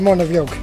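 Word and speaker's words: Muine Bheag: name right in irish so how do you pronounce it it's called monavie okay easy as that yes easy as that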